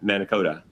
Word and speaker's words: Mankato: from Minnesota State and Mankato. Mane- How do you say that, Mike? Mana- Mankato. But, close. Mankato.